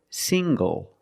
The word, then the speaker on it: single: good also this word single single the n g makes the nasal sound plus the hard G single single I'm not single